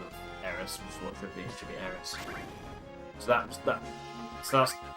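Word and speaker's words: Aeris: Sorry, Aif instead of Aerys which should be Aris.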